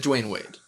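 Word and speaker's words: Dwyane Wade: he's spelled his name it's duin the the y is before the a d wayne it's d wayne d-w-y-a-n-e instead of d-w-a-y-n oh it's do we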